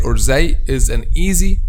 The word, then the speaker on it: ز: be individual mistakes like pronounce zay or they like letter vel okay the letter that